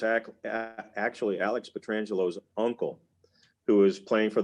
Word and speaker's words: Petrangelo: will say this that if you ask alex petrangelo how he pronounces his name he will tell you it's alex petrangelo it's not peter angelo it's not petra angelo or any other kind of bastardization of the name it is alex petrangelo